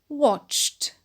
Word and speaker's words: watched: In the past, it is pronounced watched. Watched. And the ed is pronounced to.